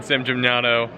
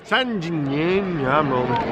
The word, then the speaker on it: San Gimignano: Hey, so today we're taking a day off in San Gimignano. I think that's the right pronunciation. Matt, try it. San Gimignano.